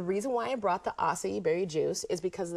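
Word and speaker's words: açaí: Okay, acai good. berry, right. Then the reason why I brought the acai berry juice is because of the fact acai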